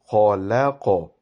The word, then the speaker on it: خَلَقْنَا: So the starting of this word will be khalaqa. Okay, so lam, do not pronounce lam with a round-shaped mouth.